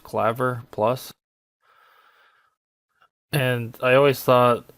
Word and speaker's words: Clavier+: use a program called I believe it's pronounced Claver plus and and I always